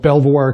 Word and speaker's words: Belvoir: it's at a place called Belvoir Castle, or that's how I pronounce it. Apparently the Brits pronounce it differently.